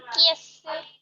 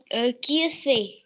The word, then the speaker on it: qu'est-ce: Ma'am, QSA. No, ma'am. It is Kiese.